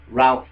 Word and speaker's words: Ralph: with Voldemort, played by Ray Fiennes. Alright, no, not Ray Fiennes, Ralph Fiennes. It's spelt Ralph, but people keep saying Ray. It's Ralph Fiennes. If it was Ray Fiennes, it would be R-A-Y.